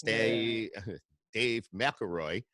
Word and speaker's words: McElroy: So it's Dave McElroy.